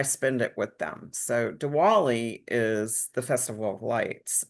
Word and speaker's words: Diwali: So Diwali, it's spelled Diwali, Diwali, or they say Deepavali. So Diwali is what you'll hear when someone says it.